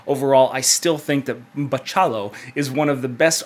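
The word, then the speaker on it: Bachalo: is going to be continuing with artist Chris betal oh he corrected me on Twitter that I said his name wrong Chris Paciello is going to be continuing as the artist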